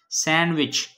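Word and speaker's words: sandwich: सैंडविच, सैंडविच, ये है सैंडविच, हम सैंडविच नहीं बोलेंगे, सैंडविच बोलेंगे, डी इसमें साइलेंट है.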